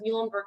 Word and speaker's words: Muhlenberg: We are the Mules of Muhlenberg College.